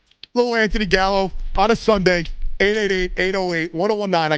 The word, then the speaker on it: Gallo: Gallo, 2 syllables.